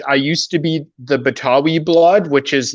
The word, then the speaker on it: Betawi: I used to be the Betawi blood, which is like Betawi's the term for someone from Jakarta.